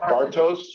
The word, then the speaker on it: Bartos: It's like Bart. Like, there we go. Bartos?